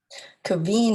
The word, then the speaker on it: Kevin: Kaveen is spelled the same, but pronounced a different way.